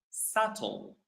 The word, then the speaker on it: subtle: We pronounce it subtle. Subtle. All right. Subtle is something that is barely visible. Subtle. All right. Subtle. The B is silent again.